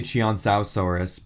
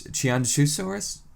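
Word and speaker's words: Qianzhousaurus: I used to say Chianzausaurus, but I think it's Chianzusaurus? Chianzusaurus. I think that's it.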